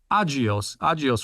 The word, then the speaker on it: Agios: Am I pronouncing that correct? Agios Pharmaceuticals? Agios Pharmaceuticals.